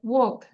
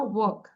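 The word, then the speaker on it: walk: দেন ওয়াক, এল এর উচ্চারণ হবে না, ওয়াক।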